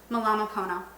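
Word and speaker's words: Mālama pono: Malama Pono, take care. Did I say that right? Let me see it. Malama Pony. Malama Pono. So I did say it right.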